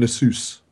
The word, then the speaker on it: Nasus: It's Nidalee and Nasus.